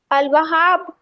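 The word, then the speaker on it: الوهاب: सर ने जी है हम इसको कैसे पढ़ेंगे अलवहाब अल वहाब आपने लाम इसमें पढ़ा है यस लाम की आवाज आई है तो क्यों आई है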